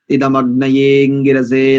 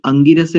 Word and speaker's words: इदमग्नयेऽङ्गिरसे: अब देखिए उच्चारण देखिए कैसे करेंगे। ओम तन्त्वा समिद्भिरंगिरो घृतेन वर्धयामसि बृहच्छोचाय विष्ठ्य स्वाहा इदमग्नयेऽङ्गिरसे दन्नममा, इदमग्नयेऽङ्गिरसे दन्नममा। मैंने अंगिरसे नहीं बोला है, देखिए, ठीक है।